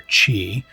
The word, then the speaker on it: Qi: When you're playing the game, you come across a character named Mr. Chi, it's spelled Qi, and you come across him after you've completed a lot of the objectives in the game.